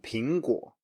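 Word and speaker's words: 苹果: Then we have 苹果, 苹果.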